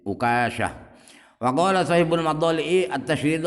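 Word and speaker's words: عكاشة: Kata Imam Jauhari, Imam Sa'lab ahli bahasa Arab, Uqasyah itu dibaca tasydid kafnya dan kadang-kadang dibaca takhfif tanpa tasydid. Uqasyah.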